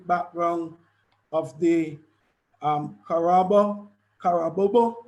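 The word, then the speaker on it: Carabobo: of the um harabo kara bobo i think that's how you you pronounce it kara bobo yes battle that took place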